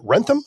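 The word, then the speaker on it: Wrentham: Born in Sacramento, California, and grew up in, is it Rentham? I'm sure I said it wrong. No, that sounds good. Rentham, Massachusetts.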